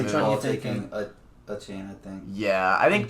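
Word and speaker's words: Achane: Yeah, I mean, I think you're grabbing Kendra Miller or Or is it A-Chain. a chain? That's how you say it.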